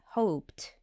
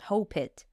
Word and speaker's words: hoped: hoped liked you see I pronounced T at the end hoped it's not hop it yeah and the third